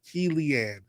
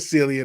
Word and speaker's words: Cillian: help me pronounce that key leanne murphy there you go cillian i said silly i thought it was kilian or i i [